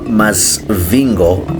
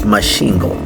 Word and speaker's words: Masvingo: By the way, uh it's not Masvingo, it's Masvingo. So, the locals here pronounce it as such.